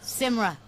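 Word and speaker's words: Symra: How do you pronounce her name? Simra.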